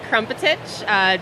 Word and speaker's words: Krmpotich: It's Krmpotich. Just you got to throw in a few extra vowels every time. But I promise that's how it's said.